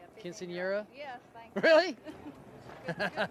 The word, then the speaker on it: Quinceañera: Quinceañera?